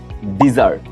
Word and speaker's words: DESSERT: সো এইটাকে আমরা বলি হচ্ছে ডিজার্ট, DESSERT, ডিজার্ট, মিষ্টান্ন।